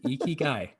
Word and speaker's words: ikigai: where's your e ki iki ikigai that is i actually youtubed it how do you pronounce this it's like ikigai okay got it so i don't have like